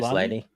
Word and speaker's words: Maslany: Tatiana, how do you say her last name? Maslany? Maslany?